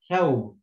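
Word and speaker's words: ثوب: So we read this as thaw, thaw. The wow here is silent, and the ba is silent as well.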